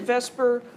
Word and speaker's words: VSEPR: on the arrangement of the electrons so we pronounce it Vesper just because vse PR is tedious and valence shell electron pair repulsion theory is also tedious to say so we call it Vesper theory but it's based on the idea that